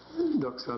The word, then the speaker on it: doxa: And doxa is appearance, or doxa means, well, appearance is the word. Doxa is a good word. It's one of the few with a short A ending.